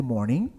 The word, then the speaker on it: morning: Na língua inglesa, palavras com a terminação ing, a gente nunca vai pronunciar o G, tá? Pronuncia só até o então. Morning, não é morning.